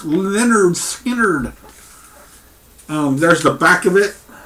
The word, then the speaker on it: Lynyrd Skynyrd: last Lynyrd Skynyrd here is their debut album pronounced Lynyrd Skynyrd there's the back of it and what a